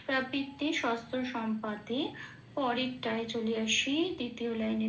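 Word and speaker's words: শস্ত্রসম্পাতে: যেমন আছে তেমন, শাস্ত্র শস্ত্র সম্পাতে যেমন আছে তেমন, চান্টিংয়ের সুবিধার জন্য একটু প্লাস প্লাস দিয়ে ভেঙে নিয়েছি, শস্ত্র সম ময় হসন্ত দিয়ে পাতে, এরম ভাবে বললে একটু রিদমটা ঠিক আসে। প্রবৃত্তে শস্ত্র সম্পাতে।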